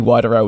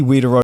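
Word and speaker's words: Widerøe: I actually had to look at a pronunciation site, and the local pronunciation was not something I could do, so apparently Wideroe is how you say it in the USA English, so hopefully you understand what I am meaning.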